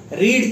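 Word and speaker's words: read: रीड की third form, again spelling रीड ही रहती है बट पढ़ते हम उसको रेड है, आई shall have रेड this book, यह किताब, आई shall have रेड this book.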